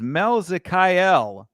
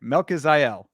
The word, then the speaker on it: Melkizael: Christian Rodriguez versus Melzikael Costa. I said it right. I'm proud of myself. I'm just gonna tell you. No, I didn't say it right. Melkizael.